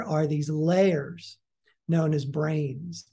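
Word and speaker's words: brane: these layers known as brains now brain is spelled b-r-a-n-e yeah uh not and and it's confusingly similar to you know the brain up here but it is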